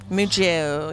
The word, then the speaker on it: mucho: Mucho. You got to say it like that.